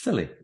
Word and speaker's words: Scilly: of the hours of silly pronounced silly um no 28 miles